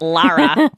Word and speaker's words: Laura: Chat girls on it, Laura and Sarah Lena. And yes, Laura, I just said your name the way it sounds like it's supposed to be pronounced, Lara, even though it's Laura.